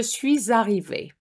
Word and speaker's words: suis arrivé: Have you noticed that I put a little liaison between the S and the A, which gives you a Z sound, and we're going to do it to sound French.